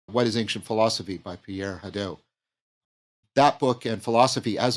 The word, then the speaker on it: Pierre Hadot: Could you say more about, if I'm getting the pronunciation right, Pierre Hadot? Is that right? Yes. Oh, Pierre Hadot.